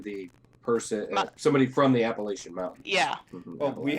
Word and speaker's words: Appalachian: I know Appalachians usually is a common one as well. but I know Instead of Appalachian, it's Appalachian. Oh, as in the person, somebody from the Appalachian Mountains.